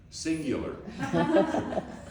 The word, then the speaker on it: Xyngular: What do we call this company? Singular. But we couldn't spell it with a a C because there was a telephone company. Wow. That was called singular. So we spelled it with an X.